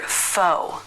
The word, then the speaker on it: faux: sauces Pho Bordeaux Roux the letter x is silent but the most common